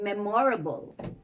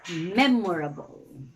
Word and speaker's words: memorable: of the words for instance you don't say memorable but memorable you don't say personally but personally not amicably